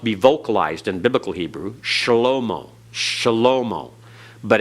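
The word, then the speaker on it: שְׁלֹמֹה: vocalized in Biblical Hebrew shalomo shalomo but in modern Hebrew it's just slo-mo they don't give that vocal sound at all all right uh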